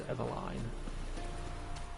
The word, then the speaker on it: Eveline: So Hugo's dead, so it is Eveline. I kept saying Evelyn earlier. So I kept saying her name wrong.